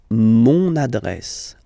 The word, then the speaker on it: mon adresse: Mon adresse, my address, mon adresse. Okay, you can hear now this little link, so you've got to pronounce this N.